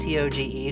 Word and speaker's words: Toge: I believe that's how it's pronounced, T-O-G-E, Toge.